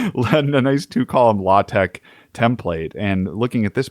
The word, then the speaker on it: LaTeX: using an existing two-column law Tech is that how you say it yeah exactly London a nice two column law Tech template and looking at